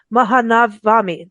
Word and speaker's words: Maha Navami: India is and I'm so sorry for not pronouncing this correctly mahanavami Mahan now I can't mahanavami um I really